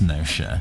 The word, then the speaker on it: Gnosia: nobody dislikes me urico i believe it's pronounced nosha yeah it might be ganosha but i don't think so you're really aggressive against